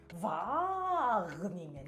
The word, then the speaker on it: Wageningen: Wageningen.